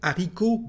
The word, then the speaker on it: haricot: Well, this letter actually is never said at the end, at the beginning, or inside a word. So let's see some example about it. We've got, for example, the word haricot, bean.